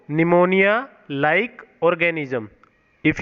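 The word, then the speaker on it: pneumonia: हैं प्लूरोटस email व्यवहारो निमोनिया पीठ N-you M ओ एन आई ऐ एस निमोनिया like और यहां पर निमोनिया में साइलेंट होता तो पी लो की एलबम प्ले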